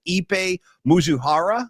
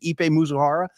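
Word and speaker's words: Ippei Mizuhara: Ipe Mizuhara, I believe is the correct pronunciation. Ipe Mizuhara.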